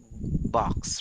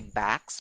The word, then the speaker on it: box: check our chat box be careful with your pronunciation that's a very common mispronounced word box right because a lot of people would say backs be Oh backs but